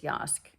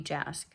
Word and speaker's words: Jask: I think the J isn't pronounced. I think it's Yazd. It might be Jask, but I think it's Yazd.